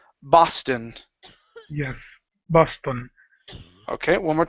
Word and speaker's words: Boston: uh the word Boston give me a b sound here instead of PA paston it's B Boston yes Boston okay one